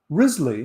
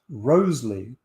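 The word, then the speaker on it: Wriothesley: the earl of southampton risley which was often pronounced rosely was just 19 at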